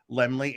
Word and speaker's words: Laemmle: Oh, it's Carl Laemmle Jr. But the Laemmles started Universal Studios, and Carl Laemmle Jr. is the son of the elder, the senior Laemmle, and he's, like Luke was saying, he's the